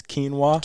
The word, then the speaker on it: quinoa: She had text me one time dying laughing because they were trying to pronounce quinoa. Yeah. And they said Joaquin.